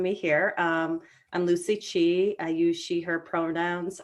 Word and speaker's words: Chi: Lucy Chi um Miss Chi and did I pronounce your name correctly you pronounced it perfectly thank you um I sometimes get it right it's like Chief without the F okay so tell us